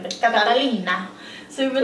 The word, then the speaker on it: Catalina: Catalina.